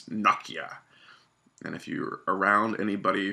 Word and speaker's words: Nokia: by Nokia, which is the correct way to pronounce that name. It's not Nokia, it's Nokia.